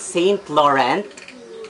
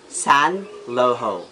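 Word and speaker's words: Saint Laurent: how we pronounce it st. Laurent but it's a French brand so it should be Sun lo ho X is Thierry Mugler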